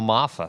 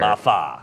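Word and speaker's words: Iamaleava: how do you say that last name Phil mafa thank you there mafa yeah more than 88 85 a half uh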